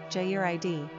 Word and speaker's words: Jared: Pronunciation, Jared.